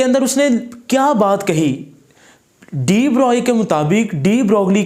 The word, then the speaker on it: de Broglie: तो जी बेटा अब हम पढ़ेंगे डी ब्रोगली हाइपोथेसिस। इसको हम डी ब्रॉय हाइपोथेसिस भी कहते हैं, ये साइंटिस्ट का नाम है, इसको प्रोनाउंस आप जिस मर्जी अंदाज में कर सकते हैं।